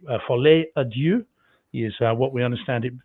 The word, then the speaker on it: Folie à Deux: But if not, I better just say Folie à Deux is what we understand it is pronounced as, meaning the madness of two, which I think is very cool.